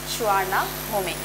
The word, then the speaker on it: Suvarnabhumi: The name Suvarnabhumi is pronounced as Suvarnabhumi. Students, look here. Here I have pronounced the word as Suvarnabhumi and here I have pronounced as Suvarnabhumi. Sometimes we used to pronounce like Suvarnabhumi, but the real pronunciation is Suvarnabhumi.